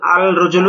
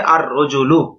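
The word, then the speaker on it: الرجل: রজলুন আলিফ লাম য আল রজুলু এটা ভুল কিভাবে আর রজুলু লামটা উচ্চারণ হবে না ব্যাস এই বিষয়টা বুঝানো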